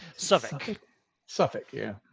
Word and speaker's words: Southwark: George's Fields Southwark as the locals call it or South work as it's spelled I drive the English viewers crazy with my pronunciation so okay Suffolk yeah it's spelt out put it in chat